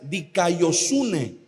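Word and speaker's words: δικαιοσύνη: es una palabra medio difícil de pronunciar se pronuncia dicayosune significa rectitud significa una a un estado de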